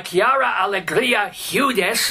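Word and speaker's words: Quiara Alegría Hudes: this is the third in a Trilogy by Kiara Allegria hudes am I pronouncing that right by any chance yeah oh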